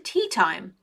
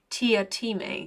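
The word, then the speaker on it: Teatime: with the dogs Mr tea time it's pronounced Tia te sir said I'm going to call him tea time said tea time with just a hint of reproach everyone gets it wrong sir how did you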